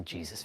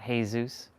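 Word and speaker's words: Jesús: It's pronounced Jesus, not Jesus. Otherwise, put H-E-Y, Zeus. Jesus.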